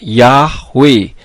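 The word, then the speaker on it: יהוה: Ibrani yang benar adalah literasinya menjadi yhwh dibacanya yahwe huruf H di bagian belakang tidak kedengaran pada saat dibaca dan perlu saudara ketahui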